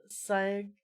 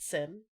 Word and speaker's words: sign: Sign. Listen, if the G wasn't silent, then it would just be pronounced sin.